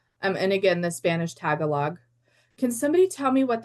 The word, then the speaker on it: Tagalog: Um, and again, the Spanish tagalog. Can somebody tell me what that is? Because I don't know what that is. Tagalog. Okay. Is it You say Tagalog.